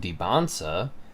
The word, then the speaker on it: Dybantsa: His last name pronounced Debbansa has silent T's.